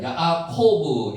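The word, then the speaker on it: יעקב: 야곱 실제로 야코포라고 있습니다. 야코브 이렇게 발음이 됩니다.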